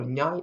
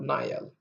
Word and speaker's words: nyal: For example, nyal is not Nile. And a lot of people pronounce as Nile, but this is nyal, a girl.